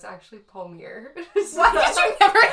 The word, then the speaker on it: Palmiere: So like Rachel said, actually it's Palmiere.